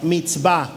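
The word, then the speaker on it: מצווה: habla de los mandamientos usa una palabra que se pronuncia meet va los mandamientos es la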